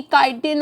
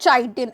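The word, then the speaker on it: chitin: होती है फंजाई की, काइटिन और पॉलीसेकेराइड से। देखो इसकी प्रोनाउंसिएशन लास्ट क्लास में भी बताई थी मैंने, काइटिन, नॉट चाइटिन, इट इज काइटिन, ठीक है, एंड द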